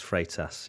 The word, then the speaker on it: Freitas: And I know that you've got stick for saying his surname wrong, so here we go. Freitas. I've learnt now. It's Freitas.